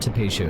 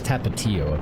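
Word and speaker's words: Tapatío: sauce Tabasco Tapatio or it's not tapio it's tapao apparently I've been saying it wrong my entire life tap too salsa and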